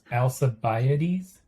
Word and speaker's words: Alcibiades: So I'm going to make sure it's now my turn to mispronounce this. Alcibiades?